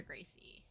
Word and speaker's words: Gracie: into, look up Roger Gracie or Rick and Gracie. Okay. Oh, and the R is pronounced as an H.